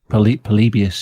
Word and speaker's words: Polybius: Polybius. Is that it? Mm-hmm. Is that right? Yeah, Polybius. Polybius.